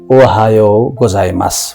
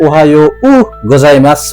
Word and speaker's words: おはようございます: विशेष गरि ध्यान दिनुपर्ने कुराहरु चाहिँ अ ओहायो गोजाई मास भन्दा हुन्छ है त ओहायो उ गोजाई मास भन्नु पर्दैन उलाई उच्चारण गरिरहन आवश्यक छैन।